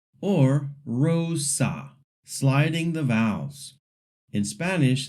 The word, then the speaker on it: rosa: it like rosa or rosa, sliding the vowels. In Spanish, the R at the beginning is trilled, but for now, you can just pronounce it lightly. The O is a pure O sound.